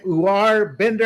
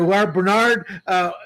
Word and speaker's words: Uwar Bernard: Uwar Bender, I believe. Bernard. I'm sorry, Uwar Bernard.